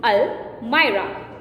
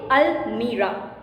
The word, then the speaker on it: almirah: For example, all the important letters are kept in almirah, not in almirah.